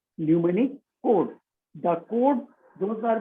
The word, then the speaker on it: mnemonic: Mnemonic, M is silent.